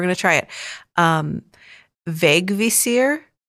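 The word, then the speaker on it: Vegvísir: to try it um vague visir uh which is spelled v EG v i s i r but that first I has a little accent going off to the right so vague Vere um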